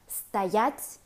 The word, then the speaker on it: стоять: For the present tense forms of стоять, the stress goes on the second syllable.